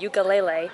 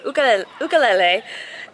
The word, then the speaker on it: ukulele: It's not ukulele, it's ukulele. And they were giving one away through a dancing contest and my sister actually won. So I think they said it's like a $240 ukulele and she got it